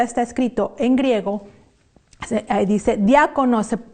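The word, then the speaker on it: διάκονος: Y bueno, no hay mucho que distraernos con esa palabra, porque se parece al español cuando decimos diáconos, o diácono, o diaconisa, o diaconisas.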